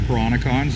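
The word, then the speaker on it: Peranakan: You get a lot of people from, they're called the Peronicons. They're the first people that were here. So that's pronounced Peronicon.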